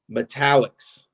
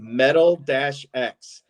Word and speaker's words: metallics: But there's an insert called Metallics, and it's spelled metal-X, and everyone, even in-house at Upper Deck, calls them Metal X cards. And I'm like, no, they're metallics.